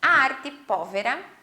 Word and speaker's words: Arte Povera: contextualizando-os no tempo e no espaço bom então arte pólvora né ah se pronuncia assim mesmo ela foi um movimento aí